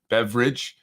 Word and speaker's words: Beveridge: by the name of Andrew Beveridge, not spelled like beverage, but more like Bev and Ridge Hill. Beveridge.